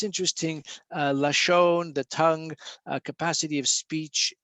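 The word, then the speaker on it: לשון: so lame shin nun spells lashon without the volve we don't need the v in hebrew we can pronounce lashon you know just with the the the dot uh on top so lashon is tongue or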